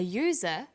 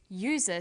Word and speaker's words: user: an umbrella but a user because user sounds like it begins with a y a and an are